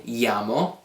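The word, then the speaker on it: -iamo: When we're talking about noi, it's going to end in iamo, that's how that's pronounced, I-A-M-O.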